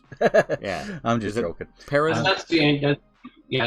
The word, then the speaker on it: Perron: Perron? That's the end. Yeah, it's about the Anglophone pronunciation. Yes. I just want to say now with the rolling R.